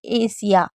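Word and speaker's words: Asia: जब एस के बाद आई ए या आई ओ एन होगा तो एस को स पढ़ेंगे। ठीक है? अच्छे से याद रख लीजिएगा ताकि आप भूले ना और इसको ध्यान रखें। जैसे एशिया तो एशिया में आप देख रहे हैं कि एस के बाद आई ए है तो हम इसे श पढ़ें।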